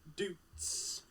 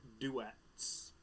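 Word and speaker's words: Doets: Shane's got Kevin Dutz. Kevin Dutz. Or if you say it as it's spelled, Kevin Duets.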